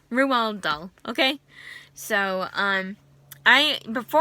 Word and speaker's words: Roald Dahl: name that's just his name that's how you pronounce his name Rewald doll okay so um I before I even read